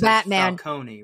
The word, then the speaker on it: Falcone: Is it is it pronounced Falconee or Falcone in this one? Because one of the other one the Batman I think says Falcone, right? Falcone. Okay. Yes. And this one is Falcone.